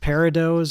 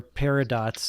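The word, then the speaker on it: peridot: then I can't remember if this is pronounced parados or parad dos I believe it's parados p e r i d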